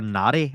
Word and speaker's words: Nari: to touch on Lester Nair. You interviewed him a while back, and he's so good at what he does. His I think it's UAP Lester Nari, actually. Nari.